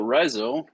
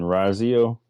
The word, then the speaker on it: Rizo: Well, it is Rizo's turn, so Rizo is in control of the token. I mean, Razio. It's Rizo. Get it right. I was making fun of the fact that it's spelled wrong.